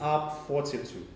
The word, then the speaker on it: UP42: and this is how large with the two drinks and stuff okay so it's u p it's up 42.